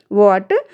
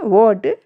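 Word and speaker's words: what: व्हाट देखिए व्हाट वाइट when in सभी में आप देखिए क्या इसमें हमारी जो एच का है वहां कहीं कोई जिक्र उच्चारण नहीं है ना क्योंकि एच हमारी यहां पर साइलेंट है और ये हमारे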